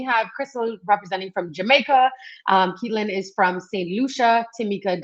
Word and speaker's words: Keithlin: It's like the man's name. So Keith and then. Keithlin.